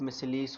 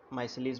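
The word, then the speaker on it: micelles: agitation necessary होती है clothes को साफ़ करने के लिए, क्योंकि जो सोप मिसलीस होते हैं, माइसलीस बोल सकते हैं, जो भी आप प्रोनाउंस करो, सोप मिसलीस, इनके साथ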